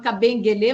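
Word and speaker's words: Kabengele: Eu falo Cabeng Guelê, mas se escreve Cabeng Gelê.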